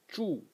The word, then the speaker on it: 住: So the first character is pronounced zhu, and it means to reside or to dwell.